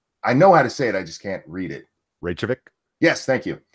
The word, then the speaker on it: Reykjavik: Reykjavik. Yes, thank you. Reykjavik.